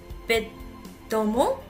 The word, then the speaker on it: vêtements: Alors, on va dire vêtements, mais vous savez, les Français, ils parlent un petit peu vite. Donc, on ne va presque pas prononcer la deuxième syllabe. Vêtements. Vêtements. Comme une Française, très bien.